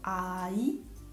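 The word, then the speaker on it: 아이: La consonante ien invece è muta quando all'inizio della sillaba è seguita da vocale, quindi si legge direttamente la vocale che segue, per esempio ai, ai, il bambino, nai, nai, l'età.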